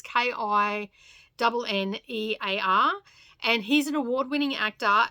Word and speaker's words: Kinnear: Now, the actor is called Rory Kinnear, I think is how you pronounce it. It's Kinnear.